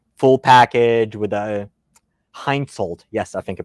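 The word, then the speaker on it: Hensoldt: a accuracy international like full package with a heinzolt yes i think you pronounce it correct with a scope it's basically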